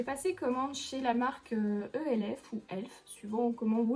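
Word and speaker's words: E.L.F.: commande chez la marque elf où elles suivront comment vous le pré vous prononcer je sais normalement c'est elf est en fait là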